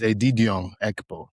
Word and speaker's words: Edidiong Ekpo: So, my name is Edidiong Ekpo. That's how you say it with the with the tone, the the the the accents, too, you know?